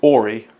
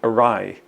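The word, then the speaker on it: awry: missing the flight entirely yeah so she says AI but you actually pronounce that word aai which means something like crooked aai smile w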